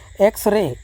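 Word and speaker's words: X-ray: तो यहां पर देखिए x रे x रे x x एक्स यानी कि यहां पर भी लगेगा एन रहने के लिए एक्स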